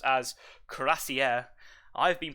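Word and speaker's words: Cuirassier: now pronounced or it's always is always was pronounced as crazier i've been pronounced kuya says which is um now i think about it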